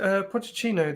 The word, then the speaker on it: Pochettino: Andy, just before you give your one, is it Pochettino that's been looking to take Ollie's job? Yeah, is that how you pronounce it?